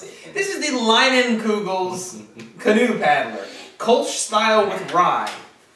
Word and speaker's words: Leinenkugel's: That's how you pronounce it. This is the Leinenkugel's Canoe Paddler.